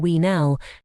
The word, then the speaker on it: uinal: Month of 20 days kin uinal weenal.